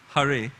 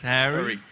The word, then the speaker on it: Hari: by the lord harry hari hari hari you know and but he would deliberately mispronounce it as harry yeah it was a